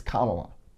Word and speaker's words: Kamala: and get it right, I'm going to do my best, but ask her how to pronounce it if you have a problem, and believe her when she tells you it's Kamala, the next president of the United States.